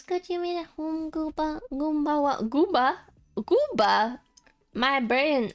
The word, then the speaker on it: Goomba: Let's get you made at home Goomba Goomba Goomba Goomba My brain I was I couldn't say the M because the gum was in between my teeth. Goomba, not Gooba. Goomba.